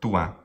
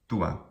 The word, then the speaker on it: tua: It's pronounced in this fashion, sometimes in Italian, tua. However, this is not the Latin pronunciation anywhere in the classical literature. It's always short, tua, tua. That is, the first syllable is always short, tua.